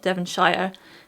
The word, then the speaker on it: Devonshire: it correctly it's not devonshire um shire is where the hobbits live sure is how we pronounce like county names so like yorkshire lincolnshire